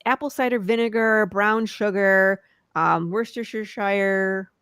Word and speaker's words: Worcestershire: cider vinegar, brown sugar, Worcestershire. Yeah, I said it right. I never knew how to say it right in my entire life. Not wash your sister sauce.